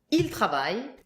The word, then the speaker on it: ils travaillent: And ENT that you never hear at the end of the verbs.